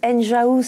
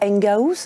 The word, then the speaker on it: Enghouse: avez raison Alexandre alors on prononce enjaous et non pas engaous comme on peut l'entendre parce que enjaous signifie la maison des ingénieurs voilà pourquoi donc pour